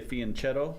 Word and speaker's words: fianchetto: it's almost it's called fan ketoing um some people say fianchetto because that's how it's spelled um you can pronounce it either way but fan ketne their